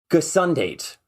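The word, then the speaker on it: gesondheid: It is gesundheid.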